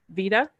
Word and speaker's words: Vida: And last but definitely not least, and please correct me if I pronounce this wrong, Vida?